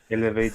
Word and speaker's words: Elv8: I am watching that chat, but only I always forget how I should pronounce this, but because it's Elv8 the Pro. I usually say Evil8 the Elevate, Pro. elevate the pro. Elevate, like elevate.